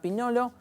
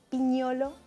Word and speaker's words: Pignolo: pronuncié bien tu apellido más o menos si lo haces españolizado Y es piñolo si lo haces italiano Gracias por acompañarnos